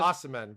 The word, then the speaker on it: Osimhen: uh Victor Arason from our How would you pronounce his name? Arishmen? Osimhen, is it? Osimhen, Victor Osimhen.